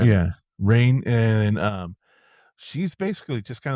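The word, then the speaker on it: Rahne: And so how do you say her name? I say Rain. It's Rain. Rain Rain. Yeah, Sinclair. I okay, always that's thought it what I was say. Rainy, but it's Rain Sinclair.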